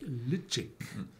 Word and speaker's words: Ledaig: A bottle called, it's written down, Ledaig. It's pronounced something like Ledaig. So with a click, sound in it.